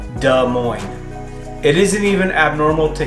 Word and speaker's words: Des Moines: actually say the name basically the s's are silent there are a lot of people who pronounce it des moines but it actually sounds more like duh moin it isn't even abnormal